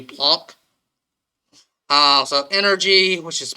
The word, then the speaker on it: Planck: park um which is plank i often switch between them in german it's pronounced closer to plonk uh so energy which